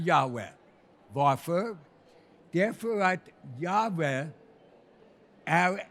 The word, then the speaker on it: Yahweh: cirka 2000 år gammal, ingen vet med bestämdhet hur det här Guds namn bör uttalas. Men den rådande teorin, och det är förmodligen rätt, är Yahweh.